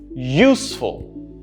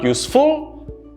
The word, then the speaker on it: useful: Useful. Again, I'm stressing on use, not full. Useful. Not useful. Useful.